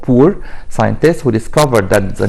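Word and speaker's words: Bohr: ناخد بالنا هنا الاتش سايلنت ما بنطقهاش، ما حدش يقول لي بوهر، لا اسمه بور.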